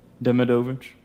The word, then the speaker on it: Demidovich: How do you pronounce that? Demovich.